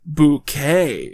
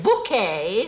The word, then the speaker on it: Bucket: events of the series she's apparently decided that it's actually pronounced bouquet it's very kind of